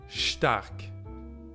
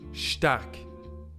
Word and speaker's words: Stark: Same goes for ST. Stark. SHT. Stark. Which means strong.